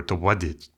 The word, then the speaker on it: Tobati: Anyhow, after decades, another linguist sketches a more detailed description of Bahasa Tobati, or Towadit, as he records the name being pronounced.